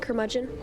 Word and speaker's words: curmudgeon: Am I pronouncing it right? Curmudgeon?